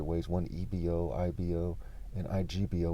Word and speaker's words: Igbo: One, ebo, ibo, and igbo where the G is silent.